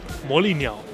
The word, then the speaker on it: 魔力鸟: In Chinese, magic bird sounds, it's pronounced Moliniao.